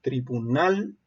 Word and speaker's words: tribunal: Tenemos dos ejemplos: tribunal. Tribunal, su sílaba tónica también es la última, pero termina en L y por eso no se acentúa o no se tilda.